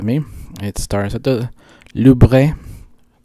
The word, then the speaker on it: Louvre: It starts at the Louvre, which is pronounced Louvre, as the French people told me when I went there.